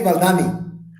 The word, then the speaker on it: Valdani: Agri Valdani. Valdani. I say it like an American, but Valdani.